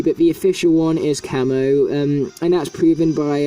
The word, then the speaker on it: Camo: either one really but the official one is camo um and that's proven by um chapter 13